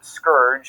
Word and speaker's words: scourge: Seemingly monotheistic, feels like the heathens, in this context likely the Native Americans, have been sent as a scourge, or scourge, as it is apparently properly pronounced.